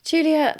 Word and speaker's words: Giulia: Giulia is spelled the Italian way, which is a bit confusing. So it's Giulia.